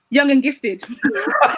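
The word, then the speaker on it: YXNG XFTD: x f t d how do you pronounce that young and gifted we just like replaced for the x's just to make it look appealing so when i was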